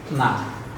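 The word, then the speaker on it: know: গুরুত্বপূর্ণ কৌশল দেখুন আমরা কে এন ও ডব্লিউ উচ্চারণ করব কি কোন না এটা উচ্চারণ করব নো অথবা নো তো আমার প্রশ্ন হলো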